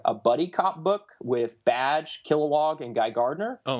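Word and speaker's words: B'dg: Badge is like the little squirrel Green Lantern thing. It's spelled B''DG.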